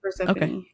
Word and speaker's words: Persephone: Did I pronounce it right? Persephone? Yeah, Persephone.